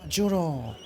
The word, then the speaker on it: giuro: Ah, giuro. In my language, it's very, very similar. He swears. Only we use a J instead of a G and I, but you pronounce it the same.